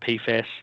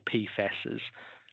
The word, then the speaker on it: PFAS: And when we talk about PFAS, we say PFAS or PFASs in relation to that is the correct way to say it.